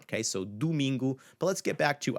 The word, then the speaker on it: domingo: It's not domingo, it's domingo. And Portuguese speakers will domingo. So both the O at the first syllable, do, and the U and gu, domingo, is going to have more of a U sound.